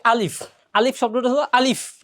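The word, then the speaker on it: ألف: অনেকে এখানে ফর জায়গায় প পড়ে, এখানে আলিফ লাস্টে ফ, আলিফ, আলিফের ফ হবে, অনেকে প পড়ে। প বললে এটা ভুল হবে, ফ, আলিফ শব্দটা হবে আলিফ।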